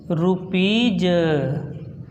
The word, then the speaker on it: rupees: जैसे हमने लिख दिया RUPEES, EE आया, इसके बाद यस आया, इसको बोलेंगे रुपीज।